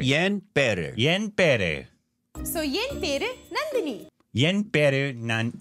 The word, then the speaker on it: Nandini: Not Nandini, Nalini, Nanduni. Hello, I I see you all always getting my name wrong in the comment section. It's Nandini. Look at the spelling.